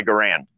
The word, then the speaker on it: Garand: Okay, Garand is a proper pronunciation.